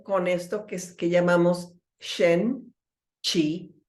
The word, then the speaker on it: Qi: En el medio está el Qi o Qi, que en realidad se pronuncia Qi, aunque se escriba como Qi, que es nuestra fuerza vital.